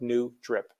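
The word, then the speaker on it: N-Drip: which although the uh my email address is in no hyphen drip the company is spelled in hyphen drip like new drip what this technology does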